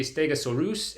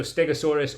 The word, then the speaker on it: Stegosaurus: So, uh going along with that theme, they also see Stegosaurus and Allosaurus, or also Stegosaurus or Allosaurus, if you want to use the more common, more boring pronunciations.